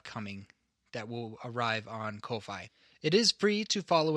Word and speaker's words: Ko-fi: we have is that we have a Ko-Fi, or Kofi, or Coffee, depending on how you want to pronounce it, but I am going to pronounce it Ko-Fi.